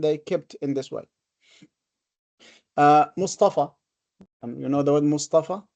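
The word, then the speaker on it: مصطفى: Mustafa. So it is not with an alif. It is pronounced an alif, but written in this form. This is called alif maqsura.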